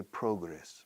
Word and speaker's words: progress: noun Progresso is progress the British often say progress must they close the o a little more if you want to